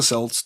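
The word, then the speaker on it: Celts: Uh, so the Kelts or the Selts, depending on how you hear it in your head or know of it and a big happy Halloween to you too, Heidi.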